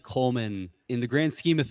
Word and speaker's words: Kollmann: Coleman, three syllables.